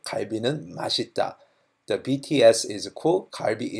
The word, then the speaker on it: 맛: of the fourth word, 맛 is delicious. So if you say the long thing, if you say BTS는 맛있다, means BTS is delicious. So you need to be very careful in pronunciation on this.